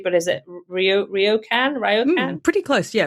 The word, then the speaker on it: ryokan: Now, probably don't know how to pronounce this correctly, but is it Ryokan? Pretty close, yeah, Ryokan.